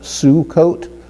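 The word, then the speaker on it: סֻכּוֹת: And so a plural form of sukkah would be Sukkot. And we spell Sukkot with a samach, and notice the samach, it has the kibbutz vowel marker under there. It gives us a U sound, Sukkot, and then followed by a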